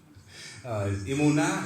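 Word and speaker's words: אמונה: Emunah.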